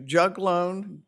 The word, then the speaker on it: juglone: tree roots produce I think this is I'm pronouncing ing this correctly juglone j u l o n e which is